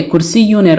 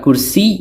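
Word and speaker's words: كُرْسِيٌّ: অর্থ দাঁড়ায় একটি চেয়ার অনেক সময় আমরা কুরসি বলে থেমে যাই শুধু কুরসি উচ্চারণ করে মুখস্ত করে থাকি অর্থাৎ ওয়াকফ করে ফেলি মানে শেষের তানুইনুনটি উচ্চারণ করি না কিন্তু আশা করি এখন থেকে আমরা এর পরিপূর্ণ উচ্চারণ করার প্রয়োজনীয়তা খুব ভালোভাবে অনুভব করতে পারব আর আমরা এই কুরসিউন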